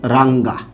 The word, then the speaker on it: রাঙ্গা: আপনি এইটা ব্যবহার করেন তাহলে অবশ্যই আপনাকে গ টা উচ্চারণ করতে হবে গ টা উচ্চারণ করতে